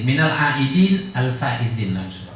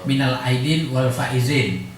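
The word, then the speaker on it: minal aidin wal faizin: misalnya Selamat Lebaran minalidin yang afdalnya sebenarnya bukan walizin minalidin alizin cuma biasanya di lidah kita orang Melayu atau Indonesia minalidinizin Apa artinya minalidinizin eluar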